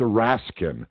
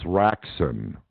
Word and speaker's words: Raksin: Well, there was that percentage of the class who always mispronounced his name, like Mr. Raskin. And he'd go, again, my name is Raksin, and they go, yes, Mr. Raskin, Well, I knew they couldn't be serious.